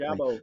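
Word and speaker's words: Ojabo: Ajabo.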